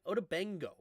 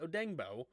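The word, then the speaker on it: Odeyingbo: Kenneth Murray and Tranquil both have a sack right now for the Chargers, and Buckner and Odengbo, that's how you say it, Odengbo gets a sack as well.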